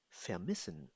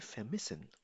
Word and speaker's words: vermissen: Das heißt vermissen. Pronounce with me. Vermissen.